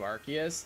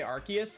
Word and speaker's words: Arceus: Kai, how do you say Arceus? Like that. I pronounce the C as a K.